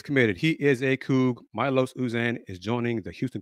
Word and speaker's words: Milos: he was in town for his visit well Milos usan announced he is committed to the Houston Cougars and head coach Kelvin Samson Thursday I said his name pronounce it as Milos it is Milos call him Los that's what I'm gonna do